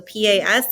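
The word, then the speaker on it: pas: maybe you're not bad notice I'm not pronouncing the S we very rarely pronounce s's on the N so p-a-s is PA reputation or maybe you're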